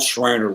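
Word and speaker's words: Schreiner: the Shriner family and not Shriner like the Shriners but S cr i neer and they're they're one of the founding families of of Kerville.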